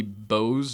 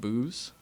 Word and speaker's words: Bose: It's supposed to be Bose, not booze.